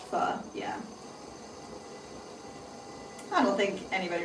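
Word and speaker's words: phở: I love fo, but it's pronounced fu.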